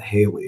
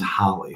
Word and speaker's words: Halle: just found out yeah pronounced Holly Douglas not Haley it's Holly Holly Douglas as we found